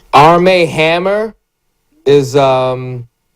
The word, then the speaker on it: Armie: Armie Hammer is and it's Armie, not Armin Hammer. He's Army.